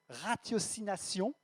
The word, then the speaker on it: ratiocination: Et ratiocination ou rationalisation pour ceux qui prononcent différemment. Ce T, voilà. On va le dire ratiocination, ce sera mieux. Mais tout cela n'est plus que vaticination et ratiocination caduque.